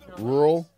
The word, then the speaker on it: rural: rur R like Whirlpool rural yeah rural like Earl but R that's a hard word